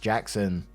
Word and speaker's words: Gaxon: Well, it turns out he wasn't messing with me, and someone on his dad's side was actually named Gaxon, pronounced Jackson.